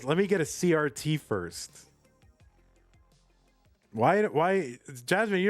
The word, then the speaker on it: CRT: we ended up with the universal pronunciation of CRT as CRT instead of Kurt that's like the least